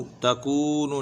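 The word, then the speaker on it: تكون: का वाव पेश कू, यकूमु, यकूमु, इसी तरह तकूनु, तकूनु, न ता को खींचना न नून को खींचना है, इसी के यहाँ ज़बर है या पेश को खींचना नहीं है, काफ को खींच के पढ़े, तकूनु, ठीक है।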